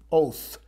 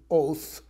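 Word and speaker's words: owth: It's actually pronounced like our English word, oath, but is spelled differently.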